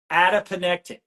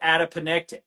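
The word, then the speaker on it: adiponectin: Adapene.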